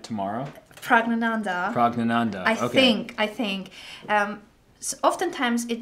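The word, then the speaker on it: Praggnanandhaa: Can you say that again, just so I can pronounce it right tomorrow? Pragnananda.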